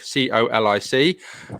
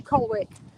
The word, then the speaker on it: Colwick: it was about colic c-o-l-i-c we just had to discuss it's cold wick um but it's actually pronounced colic and uh and neil